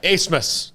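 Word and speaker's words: Abmas: the fact that uh he much like brett favre before him has convinced everybody to say his name a different way than it spelled and i i respect that yeah yeah what is it it's a-b-m-a-s is that right craig yeah yeah yeah yeah acemus acemus and number one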